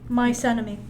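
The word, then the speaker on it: Mnemosyne: There was Thea, Rhea, Themis, Phoebe, Thetis, and Mice enemy. Like mice enemy.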